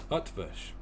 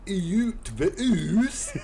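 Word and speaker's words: Ötvös: Utvush is a Hungarian surname. It has a silent E for historical reasons. The is an U. It's between and a, like at the start of Earl. T and V are as you would expect. And finally, sh.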